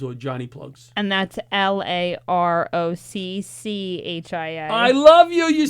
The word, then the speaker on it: LaRocchia: And that's LAROCCHIA. I love you. You spelled it right. John And I pronounced it right.